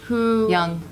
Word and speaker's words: Jung: they did study the works of Carl Jung Yong Yong thank you I know it is spelt at the Jayla so Carl Jung he